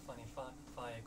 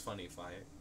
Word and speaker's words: Funnifyic: Funnifyic is the right way to pronounce it. Not Funnifyic, which is what you started doing. I believe it's Funnifyic.